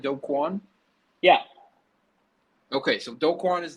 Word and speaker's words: Do Kwon: um so don't call am i am i pronouncing this right dokwan yeah okay so dokwan is the co-founder of